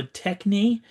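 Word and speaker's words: τέχνη: Um, here is the Greek term I think if it so techni is how I pronounce that.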